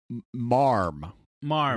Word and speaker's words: ma'am: Marm, which or ma'am, but it commonly pronounced marm.